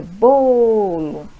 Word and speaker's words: bolo: é o lhá e o bolo é bolo. Então é o bo, que é a sílaba tônica.